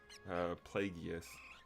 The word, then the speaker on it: Plagueis: Plagueis. It is a hard G sound in his name.